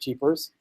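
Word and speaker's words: GPars: with Jeepers and yeah I pronounce it Jeepers where's the joke otherwise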